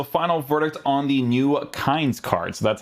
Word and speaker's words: Kainz: Okay, guys, so final verdict on the new Kainz card. So that's how you actually pronounce this game, apparently, to FIFA.